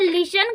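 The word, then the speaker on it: listened: जब लिसन का मतलब होता है सुनना, तो लिसन का मतलब तो होता है सुनना, तो हम सेकेंड फॉर्म कैसे बनाएंगे, सेकेंड फॉर्म बनाएंगे यहाँ पे टी जो है साइलेंट है, ED, ओके, क्या बनाएंगे, ED, लिसन।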